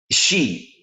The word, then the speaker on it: Sidhe: One ancient name for these beings is the Irish She. It's spelled Sidhe, the She people.